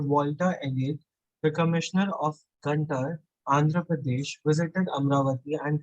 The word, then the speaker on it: Guntur: In 1854, Walter Elliot, the commissioner of Guntur, Andhra Pradesh, visited Amravati and collected several बेटा sculptures. गुंटूर, Guntur, pronunciation is गुंटूर।